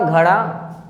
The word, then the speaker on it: घोड़ा: बोलने में लग रहा होगा आपको कि अगर आप इस र का उच्चारण करते हो आवाज़ बिल्कुल पतली है, लेकिन अगर आप इस बड़े र का उच्चारण करते हो ये आवाज़ मोटी है और झटके के साथ जीभ निकालता है, मूर्धा में टच करके।